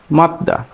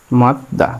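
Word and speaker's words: 맞다: এখন জিউত যদি কখনো নিচে যায় তাহলে কি হবে? সে ত হবে।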